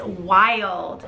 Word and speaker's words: Wilde: The first name is Wild. It's spelled W-I-L-D-E, like Oscar Wilde.